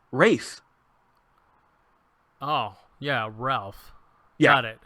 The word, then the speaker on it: Ralph: name properly cuz well to be fair it's spelled Ralph and he refuses to pronounce it that way oh just like all the Geoff's in the world you sons of it's RAL pH race oh yeah Ralph's got